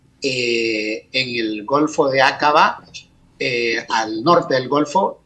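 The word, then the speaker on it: Aqaba: llega que es el golfo de acaba o de acaba me gusta más la primera pronunciación acaba e y ese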